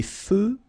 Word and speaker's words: feux: Des feux de circulation. So here final X not pronounced.